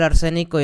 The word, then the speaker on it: arsénico: Este es el arsénico y es el oxígeno. Tienes tres oxígenos y dos arsénicos, por lo tanto se va a llamar trióxido de diarsénico. Okay. Y arsénico, bueno, tiene acento en la E.